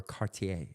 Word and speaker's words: Cartier: or Cartier, all right, Cartier. or whatever. It's not Cartier. Cart- It's Cartier. Cartier. Yeah, it's It's what? Cartier.